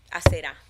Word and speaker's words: Aserá: Y también a la diosa Aserá, porque aquí vi que con un acento en la diosa Aserá, que es la diosa de la fertilidad.